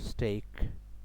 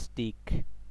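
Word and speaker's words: steak: তো মনে রাখবেন এটা বানানে বোঝা যাচ্ছে এটার উচ্চারণ স্টিক, বাট এটার আসলে উচ্চারণ হচ্ছে স্টেক।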